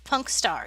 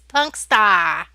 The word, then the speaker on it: Punkstar: The wolf's named Punkstar. Yes, the wolf's name is Punkstar. No, you're not saying it correctly. It's Punkstar. Punksta, with as much New Jersey as we can get into it from this part of